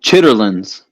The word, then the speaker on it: chitterlings: Well, somebody in another panel called it chitterlings. They kept calling it chitterlings. That's not how you say it. No, that's not how you say it. They, It's called chitlins.